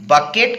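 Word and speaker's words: bouquet: देखिएगा spelling बकेट के जैसा लग रहा है, लेकिन ये बकेट नहीं बल्कि क्या होता है, बुके। इसको पढ़ेंगे हम लोग बुके।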